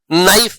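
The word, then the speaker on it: knife: नाइफ में के का प्रोनंसिएशन नहीं होता है।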